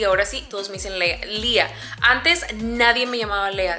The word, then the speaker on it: Leah: No, como tan solo que yo les diga, se dice Lía y ya. Pero mira, hasta ahorita vengo a saber por qué todo mundo pronuncia el nombre de Lía como Lea. Porque le pusieron la H al final, según lo que ella me explicó.